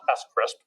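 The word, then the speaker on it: SCRSP: c rsp which stands which we pronounce s crisp uh stands for state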